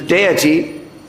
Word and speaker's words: deity: The actual pronunciation is deity, but Srila Prabhupada said deity, therefore we say deity.